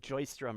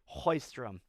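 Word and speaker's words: Sjöström: sarah hoystrom the the you don't even say the s people always say like joyce drum or something i believe it's hoystrom or at least that's my best effort thought provoking yes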